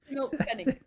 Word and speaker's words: Schimmelpfennig: It's a silent L. It's not a silent. It's like the opposite of a silent letter where you just pronounce a letter that's not supposed to be there.